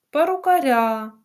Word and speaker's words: перукаря: слово перукар на ар перукаря наголос падає на я ми бачимо це слово